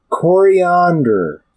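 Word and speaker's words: Koriand'r: my nerd credits princess coriander but not spelled like coriander like the spice yes it's spelled with K's and an apostrophe before the last R but I do believe it's still pronounced the same or at least I've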